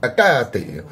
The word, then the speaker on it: Hecate: incredibly technical about it, the proper way to say her name sounds something a little bit more like Hecate. And since almost none of us are doing that, shush. I'm saying Hecate.